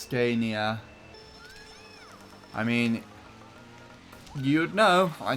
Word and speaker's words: Scania: I think it's supposed to be pronounced Scania.